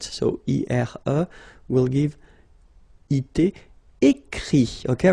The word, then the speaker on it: écrit: Écrire to write, so I-R-E will give it, écrit, okay? Remember that even if you've got this final T, you don't pronounce it, so it goes like écrit, okay?